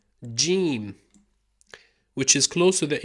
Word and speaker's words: جيم: Now in Fusha, modern standard Arabic, it's pronounced like the letter J, ja, or the letter G in George. So ja, okay? Now in certain accents, in colloquial or slang Arabic, in certain accents, especially Egyptian, Yemeni, and Omani, it's pronounced ga, like a G in the word girl.